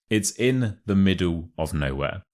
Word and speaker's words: in the middle of nowhere: It's in the middle of nowhere. So the becomes a the, and the of is a of. So it's like a V.